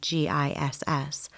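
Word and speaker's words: GISS: they said the acronym g i SS which is phonetically said with a soft G sound like in the word giant after a few false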